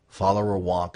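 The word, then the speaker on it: Followerwonk: followers using follower wonk follower wonk is spelled fo l l o w e r w n k like Wily Wonka learn from them and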